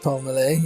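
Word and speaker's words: Pelmelay: Do you pronounce it Justin Palmelay? Yeah, Palmelay, yeah.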